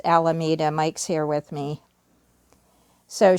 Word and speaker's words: Alameda: of the counties alameda how do you say it mike i'm sorry he says it's alameda mike's here with me